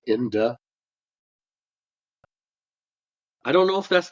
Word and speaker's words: Indeh: kill you to say Inda I don't know if that's the correct pronunciation so there'd be Inda which means the living and IND is the dead not IND so it's in day yeah okay fine grammar